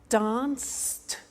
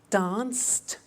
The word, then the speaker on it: danced: look at that watch danced eliminate the e pronounce the T danced laughed washed and walked